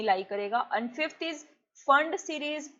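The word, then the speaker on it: Pfund: And fifth is फंड series. P silent है यहाँ पे, इसको बोलते हैं फंड सीरीज।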